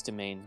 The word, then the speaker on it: demesne: I think that's domain, yeah. Like, judging based off of the, like, phonetic pronunciation guide under it, it's domain.